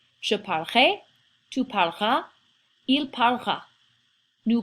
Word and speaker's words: je parlerai: when I said this, I didn't say je parlerai. It really doesn't have 3 syllables, it's closer to just 2 syllables.